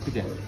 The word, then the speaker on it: pide: Pide.